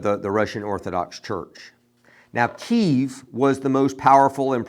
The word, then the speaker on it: Kyiv: When I was growing up, they called it Kiev, but I do think the correct pronunciation is Kyiv, or at least the very best we can do in our English, trying to speak Ukrainian.